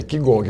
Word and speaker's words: Qigong: Mas se lê Qigong como se escreve é Qigong, mas a leitura é Qigong.